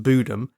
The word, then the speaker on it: Bodom: got a good authority that Lake Bodom is actually pronounced budem so we'll be going